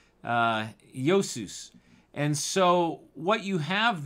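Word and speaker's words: Iesous: is the english version of a greek name josus and we spell that as i e s o u s uh yosus and so what you have there is uh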